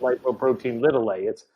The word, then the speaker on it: lipoprotein(a): We pronounce it lipoprotein little a.